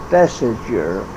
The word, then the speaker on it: Thesiger: Oh, well, he mispronounced the name of Ernest Thesiger. He said Thesinger.